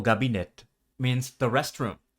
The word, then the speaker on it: gabinetto: O gabinetto means the restroom. Notice that the initial k sound in this word becomes voiced between vowels.